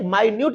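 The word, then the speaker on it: minute: यही चीज आप होंगे वहां पर आप मिनट उच्चारण नहीं करेंगे इसका माइन उच्चारण करेंगे होमोफोन के मतलब क्या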